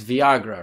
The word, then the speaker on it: Villagra: must have known that two L's is the sound I-Y in Spanish. So if you say his name, I mean, as a Spanish-speaking person, that is a safe bet. yeah, and so if you say that name, it's Viagra, right?